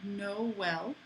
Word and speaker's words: Noël: What it means is that you need to pronounce two vowels separately. So, for example, the word Noël, this is the word for Christmas in French,